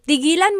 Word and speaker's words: tigilan: But if you say, tigilan mo yan, that means stop that. Okay, so again, that glottal stop is important for proper pronunciation because they mean different things otherwise.